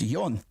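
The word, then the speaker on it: よん: Uh so um but you can also pronounce for as yun. So uh typically when you're taught Japanese, you're taught to pronounce four as yun.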